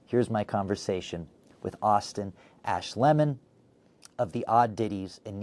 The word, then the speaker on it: Ash Lemon: Well, my legal name is Austin Ashleman. It's a long, gangly German name that no one quite ever pronounced correctly, so I decided to go phonetically, chop it in half, and say Ash Lemon, and that seems to have worked out much better.